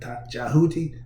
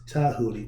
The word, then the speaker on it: Djehuti: The D is silent, but in ancient times, the D was sounded with a T sound. So instead of saying Djehuti, it's Tahuti because the D is the T sound.